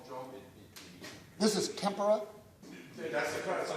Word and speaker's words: tempera: Not pronounced tempura, that's Japanese food. This is tempura. Tempera.